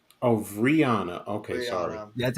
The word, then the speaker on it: Rihanna: guys by the stream there you go Brianna of Rihanna okay sorry that's how you say it yeah